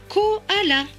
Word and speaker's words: koala: corps à la danse au mont se prononce kuala un koala très bien les mots suivants